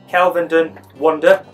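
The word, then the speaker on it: Kelvedon Wonder: Again, let's go for the pronunciation. It's actually called Kelvenden Wonder.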